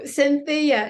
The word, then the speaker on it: Sentheia: So Sentheia is her name, Sentheia McLeod.